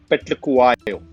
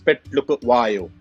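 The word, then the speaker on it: Phehlukwayo: What's the most difficult name you've had to pronounce on air? Recently concluded South African tour, Petlukuwayo. So Andil Petlukuwayo. So it was broken into three names. Petlukuwayo.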